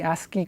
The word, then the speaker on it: ASCII: something called the ASC III code or the ASCII code this is typically pronounced ASCII ASCII stands the American Standard Code